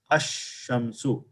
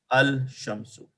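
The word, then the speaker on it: الشمس: In the Shamsi letter, the letter Lam is not pronounced. The correct pronunciation is Ash-Shamsu and not Al-Shamsu.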